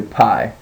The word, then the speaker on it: pi: and probably know uh we call it Pi in uh in our English American English uh but it's actually pronounced P now remember that if